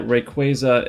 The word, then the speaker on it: Rayquaza: And before we start, from the last video, I did learn that Rayquaza is based off the words Ray and Quasar, so that will explain how to pronounce it.